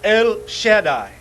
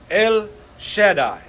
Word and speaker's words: El Shaddai: Ahora, la palabra hebrea donde dice Dios Todopoderoso es El Shaddai. El Shaddai. La segunda palabra se escribe S-H-A-D-A-I.